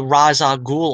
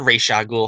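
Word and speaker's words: Ra's al Ghul: we also have the the raza ghoul origin or the racial ghoul however you'd like to pronounce i always call them raza ghoul it's a story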